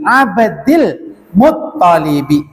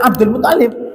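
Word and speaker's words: عبد المطلب: Iya, kasroh. Nggak boleh Abdul Muttalib. Kalau kita baca biasa bukan teks Arab nggak apa-apa. Putra siapa? Abdullah. Abdul Muttalib. Bener, rapopo. Tapi kalau sudah dalam uslub bahasa Arab, salah.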